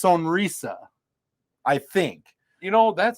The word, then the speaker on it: Sonrisa: I I think it is pronounced Sonisa.